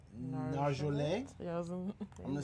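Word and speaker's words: Nargeolet: It's French, so you have to kind of twist the end. It's Narjolet.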